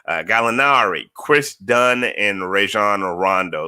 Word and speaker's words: Gallinari: snell uh daniello gallinari galinari you gotta kinda say it like with an italian italian twang on it galinari chris dunn and rajon